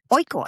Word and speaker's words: Oikos: Oh, how do you say it? I think it's Oikos. O-I-K. It's Greek. Oikos.